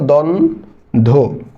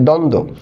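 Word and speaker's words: দ্বন্দ্ব: আমরা এই এখানে দেখো দ্বন্দ এই দ্বন্দ এরপর দেখো দ্বন্দ এখানে নিচে ব ফলাটা আছে কিন্তু ব ফলা আমি উচ্চারণ করবো না কেন কারণ আমরা জানি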